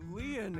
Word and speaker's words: Lien: My name, Lien, is spelled L-I-E-N.